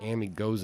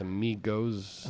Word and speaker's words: amigos: time I was saying Amy goes uh but I think it's amigos he goes next one does